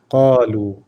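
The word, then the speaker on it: قالوا: The wow is just to pull the lam, and then the alif is silent. Silent. Kalu. Qalu.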